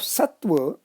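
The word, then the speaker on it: सत्त्व: Syllabic structure of Sattva is also similar, Sat plus Ta plus Va. The Ta is doubled, the in-between Ta is doubled. That is what is to be noted. Even in pronunciation and also in writing, that double ta has to be written.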